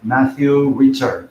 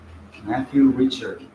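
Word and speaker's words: Matthieu Ricard: he has been in English it should be pronounced like a Matthew Richard exactly right Matthew Richard he has translated um all the not all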